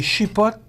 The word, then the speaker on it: chipotle: Les épices, c'est chipotle. Ah, chipotle. Comment tu prononces ça?